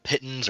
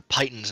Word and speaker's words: piton: and his name was Piton. So that's why they're called pitons. Mhm. But he's got me calling them pitons or pythons now. Son of a bit. It's Piton, damn it.